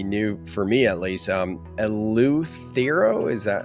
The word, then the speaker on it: Eleuthero: Eleuthero, is that how you say it? Yeah, Eleuthero.